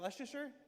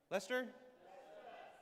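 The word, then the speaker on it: Leicester: How do you say, is that Lucaser? Lester.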